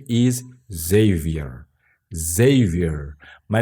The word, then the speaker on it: Xavier: Xavier. My name is not Xavier, as in Portuguese. My name's Xavier.